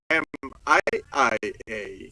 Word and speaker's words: Miia: Is it M-I-A or M-I-I-A? So it's M-I-I-A. But it's pronounced Miia. Yes, two I's. Yeah, just pronounced Miia, but spelt with two I's.